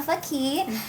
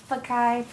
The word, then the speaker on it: Fakih: her name is Rima Fakih. How are you, Rima? I'm doing very good, and awesome. Thank you for saying my name right. People always go Fakih.